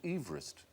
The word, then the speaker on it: Everest: it Mount Everest because he didn't pronounce his name overest he pronounced it Everest eest Everest should be M